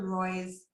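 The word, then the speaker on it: Roi: The directions for doing it are on Esther Roy's website. That's Roy is spelled R-O-I, and she has excellent directions on how to do that.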